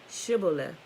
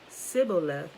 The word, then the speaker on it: Shibboleth: If the man said, no, I'm not, they would tell him to say Shibboleth. If he was from Ephraim, he would say Sibboleth, because people from Ephraim cannot pronounce the word correctly.